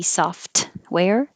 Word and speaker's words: software: I don't really need to say the T, software. I just hold my tongue in the T position, software.